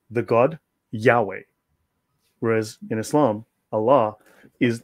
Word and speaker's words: Yahweh: We say Yahweh, but I believe the correct pronunciation is Yehovah.